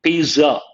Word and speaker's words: pizza: ZZ is pronounced as TZ. Imagine the spelling is Pitza.